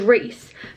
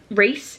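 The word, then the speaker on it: Rhys: and his name was reys but he had been he his name was spelled like r h y s like Reese so my head whenever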